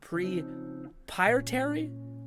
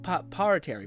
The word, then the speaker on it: proprietary: Prepetary proprietary. Pietary I it's the the second syllable.